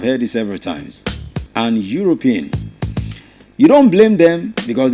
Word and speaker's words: Europe: I've heard this word many a times being mispronounced that's why I'm choosing this word and the word is e u r o p e that word is Europe right Europe so someone from Europe is called